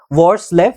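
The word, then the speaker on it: Hvorslev: AL वॉर्सलेव है ना, वॉर्सलेव बोलते हैं इसको, ठीक है ना, H वॉर्सलेव, ठीक है।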